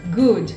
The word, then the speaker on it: good: Muita gente fala good morning, good night, good afternoon, e você não vai colocar esse i ao final. A pronúncia correta é good e não good, tá?